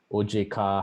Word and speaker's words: OJK: do you work with oj car how do you work with bai by the way those are the indonesian pronunciations of ojk and bi i speak to the